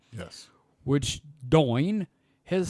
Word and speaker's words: Domhain: Scottish spirits brand Domhain, pronounced Doin. Thank you. Okay. It's Domhayn, and it's pronounced Doin.